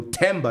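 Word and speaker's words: Themba: Because sometimes the T, you know, Tambo, T-A-M-B-O. Yeah. It's not T-H-M, even though Tamba is T-H-E-M-B-A.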